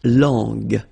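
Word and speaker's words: langue: more time La long remember when we've got this J and then U and then we get the sound g g because when you combine this J and then remember it was the sound J okay so you got to put this U between the two to get the sound G so you get La long long okay final not pronounced so you can notice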